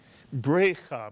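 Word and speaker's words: בריכה: But if we change the vowels in this word, keep the 3-letter root, but change the vowels as you see them now on the screen, the word is no longer bracha, but it is brecha, mitsuyan, brecha. And we learned that brecha is a pool of water or a pond, because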